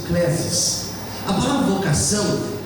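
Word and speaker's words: κλῆσις: Essa palavra vocação no original, a pronúncia clesis.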